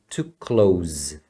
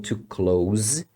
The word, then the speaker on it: to close: verbo fechar você pronuncia to close o final é um som de z então to close é fechar Close the